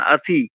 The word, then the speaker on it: অতি: অ উচ্চারণ যে করি, অ উচ্চারণগুলো বাংলাতে আমরা যেভাবে বলি সেটা কিন্তু সংস্কৃতেও সেই উচ্চারণ হয় না। যেমন আমরা বলি অতি, অতি কিন্তু সংস্কৃততে অতি বললে হবে না। আতি, আতি এরকম মানে আ এর মাঝামাঝি একটা এরকম একটা উচ্চারণ আসে।